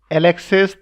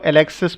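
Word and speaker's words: Alexis: आप इसको एलेक्सिस पढ़ सकते हैं, लेकिन ये फ्रेंच नेम है, तो फ्रेंच में इसको यहाँ पर एस साइलेंट होता है, इसलिए इसको एलेक्सी दो टोकोविला पढ़ा जाता है।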